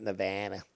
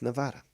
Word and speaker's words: Nevada: in Nevada and no it's not Nevada is Nevada is named after the Spanish okay the Spanish gave the name so that's why and yes Mars and